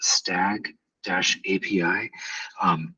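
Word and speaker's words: S2AG API: And the one that's highlighted right now, S2AG, pronounced stag-API.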